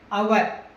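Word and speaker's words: hour: Next one is also H is silent, అవర్.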